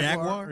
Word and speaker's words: Jaguar: Jaguar. Yeah. So, you got to say it like they say it in Britain. Jaguar.